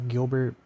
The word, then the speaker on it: Gilbert: So obviously here I pronounce it with a hard G sound. Gilbert.